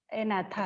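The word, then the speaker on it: Agnatha: First one इज जी is silent here, एनाथा है, ठीक है।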